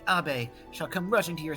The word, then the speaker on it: Abe: Actually, Abe, if we're gonna go with the Japanese pronunciation, I think. Yes. Abe.